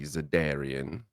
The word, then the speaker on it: Zedarian: Zedrian. 3 syllables. That's how it's spelled. It's technically Zedarian.